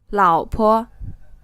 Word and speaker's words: 老婆: You can see that this word is pronounced with a 3rd tone and then a neutral tone, which means the second syllable of this word is not stressed.